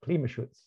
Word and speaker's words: Klimaschutz: How do I pronounce that? Klimaschutz.